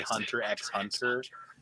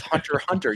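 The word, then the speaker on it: Hunter × Hunter: Is the Is it bad enough that if I say Hunter X Hunter, I won't be corrected? No, it's Hunter Hunter. You don't pronounce it.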